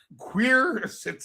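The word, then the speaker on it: quercetin: You can't pronounce this stuff. There's queer sits in QUERCTIN and anthocyanins.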